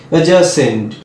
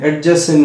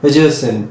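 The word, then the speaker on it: adjacent: Next আর একটা D silent word দেখো অ্যাজয়েন, ADJOIN, অ্যাডজয়েন নয় অ্যাজয়েন। একইভাবে দেখো অ্যাজাসেন্ট, অ্যাজাসেন্ট, অ্যাডজাসেন্ট নয় অ্যাজাসেন্ট।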